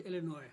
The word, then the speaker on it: Illinois: The names of 2 US states end in a letter S that is not pronounced as an S. For 10 points. 2018, Whitehorn. Arkansas and Illinois.